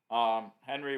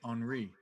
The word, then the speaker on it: Henri: So You keep just let us know mispronouncing his name. It's Henri.